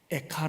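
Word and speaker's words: איכה: 로의 카 란 말입니다 우리애가 라는 발음하고 시 브리오 발음이 아주 비슷하죠 에카 란 단어는 어찌하여 어떻게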